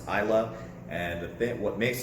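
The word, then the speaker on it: Islay: one of my favorite eyelash gotchas isla yy pronounced i love and the thing what makes an isla scotch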